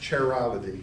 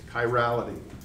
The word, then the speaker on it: chirality: chirality okay so c-h-i-r-i-r-a-l-i-t-y is not pronounced charity it's chirality okay okay it's not